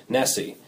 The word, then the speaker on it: NSSE: first podcast we're going to be talking about Nessie it's spelled NSS and it's the national survey of